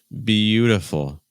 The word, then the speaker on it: beautiful: have 3 syllables, but the stress is still on the first syllable. It's like beautiful, beautiful. So that ending, the full sound needs to be very weak and very open.